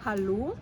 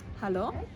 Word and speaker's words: Hallo: slawischen Bereich, und zwar, dass das O falsch ausgesprochen wird. Also in einem Wort wie Hallo oder Ostern würde es als Hallo oder Ostern ausgesprochen werden. Nochmal die richtige Variante: Hallo und nicht Hallo und Ostern und nicht Ostern.